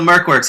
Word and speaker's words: MercWorks: an idiot yeah so Merk works it Rhymes yeah and it Rhymes it's it's a little